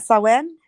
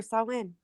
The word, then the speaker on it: Samhain: Samhain. It says Sam Hain. Samhain is what it Sam says Hain. if you pronounce it that way, but it's pronounced Samhain.